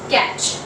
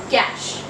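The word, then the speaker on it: cache: Another word which we often mispronounce is catch. Now it is actually not catch, it is cash. Cash. Now it sounds a little different, of course, that you might have heard, some people have not heard about it, but yes, that's the correct pronunciation. It's cash. And other word is Arctic.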